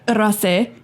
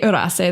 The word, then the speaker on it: Rosas: moment in Magic um rusas wait wait I'm gonna say it wrong Rosas that's how you say it um he he I